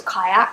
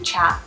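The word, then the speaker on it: kyat: it was it's called chat myanmar chat i thought it was kayak because it's spelled k-y-a-t-t so i've been pronouncing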